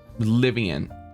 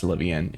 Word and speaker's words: Fillian: her name is called livan I think it's I I'm I think it's livan it's um it's either that or Vivian it rhyme it's it's it rhymes with Ian I know that for